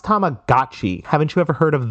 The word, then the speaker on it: Tamagotchi: It's pronounced Tamagotchi.